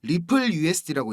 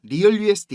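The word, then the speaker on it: RLUSD: 전망이 됩니다 자 형님들 rl usd 이거 이거 뭐라고 읽어야 된다 그랬죠 리플 usd고 읽는 겁니다 리얼 usd 이거 아닙니다 갈링하우스가 그 암스테르담에서 스테이블코인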